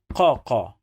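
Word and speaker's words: ق: So qa, it's a strong K or strong C when it's pronounced like K.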